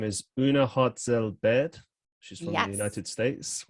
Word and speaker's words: Hartzell-Baird: Her name is Una Hartzell-Baird.